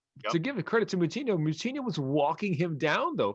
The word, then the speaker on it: Moutinho: Yeah, and I mean, the reality is at no point in that fight was Moutinho giving him, that's not how you pronounce his name. That's Moutinho.